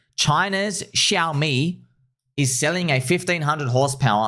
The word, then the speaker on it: Xiaomi: So, Xiaomi is how you pronounce that word, which sounds like shami.